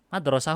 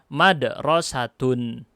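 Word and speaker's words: مدرسة: nih disini diubah jadi tak marbutoh madrosatun nah bener madrosatun sekolah madrasah nggak ada artinya Oh gitu ya Hai Binu kota ini dikasih 2.0 Thailand 2.0 tokoh akaga diucapkan madrosatun madrosatun Hai menjadi sini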